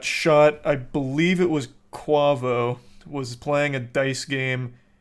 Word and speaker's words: Quavo: got shot minding his own business basically it's pronounced quavo have I been saying it wrong all these